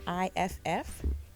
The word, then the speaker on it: Gniff: So in these planters, I'm planting the cosmic purple carrots and I believe it's pronounced Gniff or Gniff. It's Gniff, and it's a purple carrot with the white center.